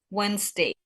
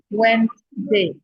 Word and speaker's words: Wednesday: Not three syllables, but only two syllables. W I sil ya. Jadi Iya betul. Jadi bukan Wday Wednesday. Okey. Can you please repeat after me everyone? Wednesday. Wednesday.